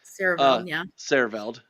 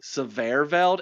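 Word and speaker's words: Siereveld: Sierreveld. I always want to say Severveld, and that's not. There's not 2 V's there, so I always mispronounce it.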